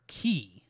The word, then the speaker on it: χ: as Kingdom Hearts key that key is with an ex is spelled with an X it is the because that character that we look at that looks like an X is actually the Greek letter key since Keys come up